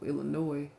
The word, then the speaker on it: Illinois: Illinois, like annoying somebody.